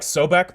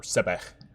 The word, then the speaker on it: Sobek: There's also, like, Sobek, but Sobek isn't really associated with the Underworld, or Sebek. You know, I'm sure they pronounced it both ways at some point, because Egypt has a history that spans over 3,000 years.